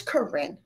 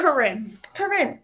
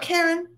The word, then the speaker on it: Karin: Also, just to make sure you guys know how to pronounce my name, it is Karin. K-A-R-I-N. Just in case. Just throwing it out there. Karin. Not Karen.